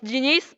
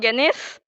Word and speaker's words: genius: not getting it no it's genius not Guinness um the pronunciation was